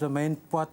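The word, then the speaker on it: Romain Poite: Some of the memes going on social media about Romain Pot and rhyming with twat and things like that.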